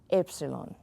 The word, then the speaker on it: epsilon: the fun one epsilon Epsilon put toothpick between your lips and say epsilon Y okay it's kind of like that it's Epsilon like you got something